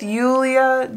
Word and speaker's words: Julia: J's in German I don't know you death Yulia Julia crap I'm gonna struggle how you wish